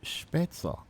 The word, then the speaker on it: Spätzle: Our next question then, and this one is maybe not so open to interpretation, but spaghetti or spätzle? How do you say, spätzle or spätzle? Spätzle.